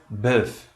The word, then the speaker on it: bœuf: O quinto grupo das vogais compostas E-U, O-E e U, correspondente em português é como se fosse um A nasal. Por exemplo, na palavra bœuf, que significa boi.